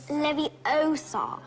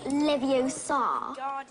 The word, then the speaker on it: Leviosa: I can totally relate you're saying it wrong it's Leviosa not leviosar you do it then if